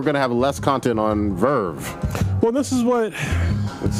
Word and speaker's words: VRV: VRV. Or, no, I'm sorry. Verve. Yeah, you say it right.